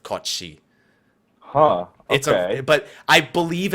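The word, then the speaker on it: Cait Sith: like a Scottish legend, is not pronounced Kate Sith. It's pronounced something along the lines of Kochi.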